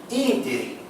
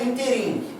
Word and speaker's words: ínterim: Não é interim. Então não é oxítona. Não é interim. Então não é paroxítona. O certo é ínterim.